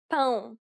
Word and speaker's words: pão: It is similar to the ow sound in English, but with nasality. Saying the word pound repeatedly may sometimes help with pronouncing the sound. But again, the best way is to listen to native speakers and try to imitate them. Listen to the following examples.